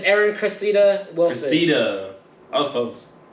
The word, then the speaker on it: Cressida: Cressida. I was close. Crescent.